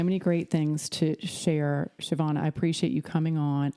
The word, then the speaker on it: Siobhan: Well, you've got so many great things to share, Siobhan.